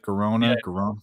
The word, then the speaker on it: Girona: It's spelled Girona, right? Girona.